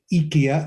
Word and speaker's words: Ikea: store well uh uh this is the way the suite pronounce it is Ikea as opposed to Ikea okay so I'm American